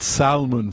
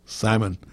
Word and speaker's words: salmon: salmon and it's not Salman for god sakes okay don't pronounce the L salmon salmon happens to be